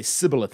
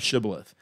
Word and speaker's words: shibboleth: of traditional speech impediment they would say sybileth instead of shibboleth and so they would